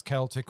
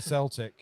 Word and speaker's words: Celtic: very frank stuck yes depends could where you're from and how you want to how you choose to pronounce it I'd come from with either whether it's Celtic or Celtic yeah I probably mix